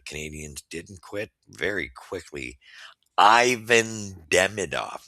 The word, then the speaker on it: Ivan: The guy's Russian. Okay, get over it. It's Ivan, and you guys need to mature up. Try to don't insult the player. Try to at least uh, pronounce his name appropriately.